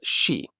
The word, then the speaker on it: し: Now the sound here is a little different. It's she, like the word she.